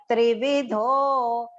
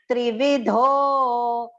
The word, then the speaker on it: त्रिविधो: Sarvasya trividho, yat trividho. Tri and V both are short. Dho has to go long.